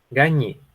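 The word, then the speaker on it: gagner: Se escribe de esta forma, ¿verdad? Y se pronuncia gañe, gañe, ¿ok?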